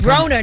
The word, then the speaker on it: Broner: Yeah, that fought Adrian Boner this Saturday. Broner, not boner.